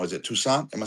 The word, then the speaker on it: Toussaint: Is it Toussaint? Am I saying it right? Toussaint? Yeah, Toussaint.